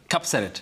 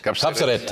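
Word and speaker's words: Kapseret: Cupset. Capserate.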